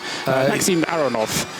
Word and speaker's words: Aronov: Maxim Aronov. It's you put the emphasis on the middle syllable, apparently.